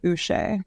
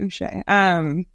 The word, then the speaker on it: Uche: you pronounce his name, Uche. No. Not Uche, Uche.